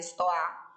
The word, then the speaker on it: Stoa: E a Stoa, né, na verdade a pronúncia, se a gente for pegar da forma correta, a base é Stoa, que vem da Grécia Antiga.